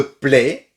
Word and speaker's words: plaît: S'il te plaît, A-I-C-E et le T final ne se prononce pas.